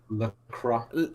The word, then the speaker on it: Lacroix: He said Lacroix. Pronounced La and then Qua. So K-W-A, Lacroix.